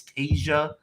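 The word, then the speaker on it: Teja: few guys have asked how i pronounce my first name it's tasia t-e-j-a and my last name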